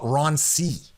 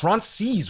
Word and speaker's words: Ronces: There's a new thing now that I hear time and time again that they call it Roncy. They'll say, "Oh, we're going to Roncy." But no, it's Roncies. We throw the S on that.